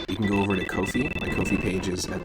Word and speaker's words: Ko-fi: They all have Ko-fis, and Ko-fi rhymes with no fee.